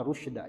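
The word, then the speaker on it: رشدا: Kalau kita mah rusyda ya, ada yang membacanya rasyada juga ya.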